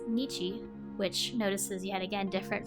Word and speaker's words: 日: The pronunciation of the first character is nichi, which notices yet again